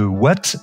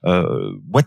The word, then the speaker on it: Waat: Vous êtes PDG de Watt, qui s'écrit W-A-A-T, une société spécialisée dans l'installation de bornes de recharge pour voitures électriques.